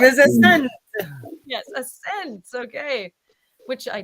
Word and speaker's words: ASNT: Well, and she's from a band called Ascent. So they are, I'll put it up on ASNT. Because it is not spelled like it sounds.